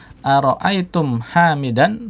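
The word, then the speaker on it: أرأيتم حامدا: Ara'aitum hamidan. Nah, di sini dibaca mimnya sukun, tetap sukun karena apa? Karena huruf setelahnya apa? Berharokat.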